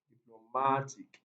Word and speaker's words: diplomatic: section 4 diplomatic diplomatic when what ends with ic just count to syllables backwards very simple so the correct answer is option c diplomatic just consciously from the end one two that's all you're good to